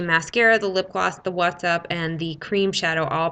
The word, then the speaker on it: Watts: the what's up watts i keep saying what's up because it's spelled w-a-t-t-s like watts and a light bulb not what's up so it's what's up um so that those